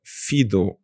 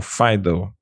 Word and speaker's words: FIDO: foi criada que se chama Fido ou Fido depende como as pessoas quiserem pronunciar Alliance Uhum E o que